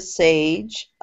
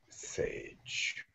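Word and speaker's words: Sahej: The first question is from, he said to pronounce it Sage, his name, but it's spelled S-A-H-E-J. Sage, yes.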